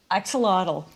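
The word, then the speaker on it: axolotl: Axelottle.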